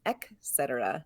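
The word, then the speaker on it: et cetera: Etc but it's definitely from King and I etc etc etc it's not from King and I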